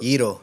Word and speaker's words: gyros: Yito, that's how it's pronounced.